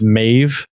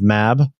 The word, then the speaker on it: Mab: Quaza is saying that it's pronounced Maeve instead of Mab.